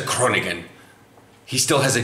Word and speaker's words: Groningen: in hmm so it's Kronig n' like you don't really do the G you kind of weirdly